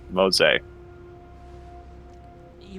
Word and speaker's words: Mose: It's 2 syllables. Mose. You wanna say that again?